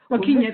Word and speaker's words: Joaquina: And Joaquina, am I going to say her name right, Julia? Joaquina, that's right.